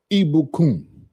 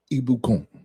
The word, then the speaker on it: Ibukun: E E B O O O K U N. Pronunciation. Yeah. For that's the pronunciation.